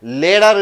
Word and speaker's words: latter: பிறகு என்பது லேடர் என்று வருகிறது.